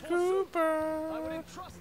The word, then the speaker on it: Cooper: It's Cooper. Cooper, it rhymes with pooper.